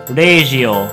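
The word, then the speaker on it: ラジオ: Similarly, the English word radio will be transformed into regio.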